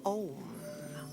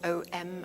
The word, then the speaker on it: Om: And it is the sound of Om. So we say O-M for Om, or we can say A-U-M for Om, which is probably more correct in the Sanskrit version of it.